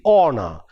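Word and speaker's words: honour: we have h the the sound h which is silent because of the influence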